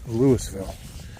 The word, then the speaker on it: Louisville: So, but yeah, this is in Louisville, Ohio. And yes, it's spelled just like they spell Louisville in Kentucky, but in Kentucky they pronounce it Louisville. But here we pronounce it as Lewisville.